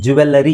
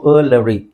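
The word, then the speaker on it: jewellery: ಜುವೆಲರಿ shop ಅಂತ ಹೇಳ್ತೀವಿ ಜುವೆಲರಿ shop ಅಂತ ಹೇಳೋ ಅವಶ್ಯಕತೆ ಇಲ್ಲ ಜುವೆಲರಿ ಅಂತ ಹೇಳಿದಾಗ ಏನಾಗುತ್ತೆ ಅದು ಜುವೆಲರಿ ತಪ್ಪು ಅದನ್ನ ಇಲ್ಲಿ ನೋಡಿ ಜುವೆ ಇಲ್ಲಿ ವಿ ಅಂತ ಇಲ್ಲ ಸೋಜು ಜುಲರಿ ಜುವೆಲರಿ ಜುವೆಲರಿ ಓಕೆ ಸೋ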